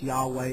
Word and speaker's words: Yahweh: uh yodhaev that comes transliterates into english as yhvh which we pronounce yahweh or jehovah jehovah okay and this